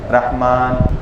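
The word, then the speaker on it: رحمٰن: اللہ الرحمن الرحیم میں دیکھیے الرحمن الرحیم کے میم پر کھڑا زبر ہے، حالانکہ اصل اردو اور عربی تلفظ کے مطابق رے ہا میم الف نون ہوتا ہے. رحمان جیسے ہم صوبان لکھتے ہیں، سلمان لکھتے ہیں، تو اسی طرح رحمان میں را ہا میم الف نون نہیں، میم کے ساتھ نون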